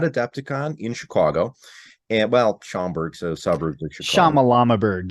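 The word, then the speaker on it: Schaumburg: in chicago and well schomburg's a suburb shama llama bird yes that's what i call it i never can pronunciate it so it's the locals here call it schomburg um you know down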